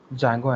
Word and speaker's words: Django: Sorry, D is silent. So Django and Flask.